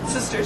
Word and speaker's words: Systers: sisters is hi yes so sisters to start with is spelled Sy y s t RS and it's at sort